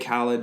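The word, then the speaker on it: Khaled: like like you know DJ khed rhymes with salad said it's another one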